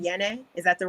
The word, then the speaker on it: Yene: Yene? Is that the right way to say it? Yene.